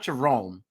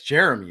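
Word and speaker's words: Jarromie: I think that's Jeremy his middle name is spelled j a r r o m i e right it's not Jerome that's that's Jeremy isn't it I think is that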